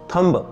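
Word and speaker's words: thumb: silent रहेगा थंब आगे actually थंब note थंब because यहां भी भी साइलेंट राहत है डेट यानी कर्ज डेट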